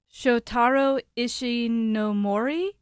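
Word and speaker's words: Shotaro Ishinomori: written by a guy and I'm going to butcher the Japanese show Taro ishi no Mori and yeah perfect nailed it yeah he would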